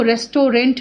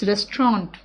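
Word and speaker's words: restaurant: तू रेस्टोरेंट लिखने हैं लेकिन इसको रेस्टोरेंट नहीं बोलते रेस्टोरेंट ठीक है और टीवी साइलेंट है वे को तू रेस्टोरेंट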